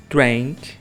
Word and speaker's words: drank: pronúncia do I mesmo no passado a gente escreve com a lembrando que o a tem um som mais puxado pro e em inglês então na maioria das